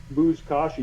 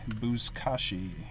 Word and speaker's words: Buzkashi: you can find, if you search the word Buzkashi, you might be able to find like the trailer for the video I did. How do you spell that? B-U-Z. All right. K-A-S-H-I. K-A-S-H-I. Buzkashi.